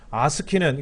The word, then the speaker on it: ASCII: BCD는 2개, 4개 합이 6개고 아스키는 이건 아스키라고 읽는데 3개, 4개고 EBCDIC는 이 BCD를 확장한 거예요.